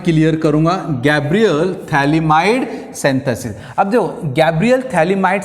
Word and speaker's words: phthalimide: Formation of salt of, ये pH silent रहता है, थैलिमाइड।